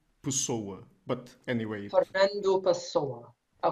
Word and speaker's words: Pessoa: Why am I saying Pessoa? Because I'm used to Spanish here, and they just sound like that. Actually, the pronunciation in Portuguese is Fernando Pessoa.